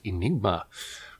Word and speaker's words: Aenigma: Today I'm talking about a film called Aenigma, which is like Aegis Enigma, like AE. People pronounce it differently. I usually take them together to be like an E sound, but it varies.